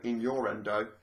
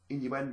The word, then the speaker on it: innuendo: and then inuendo and someone might go in your Endo no it's inuendo it's pronounced inuendo in your Endo pronounce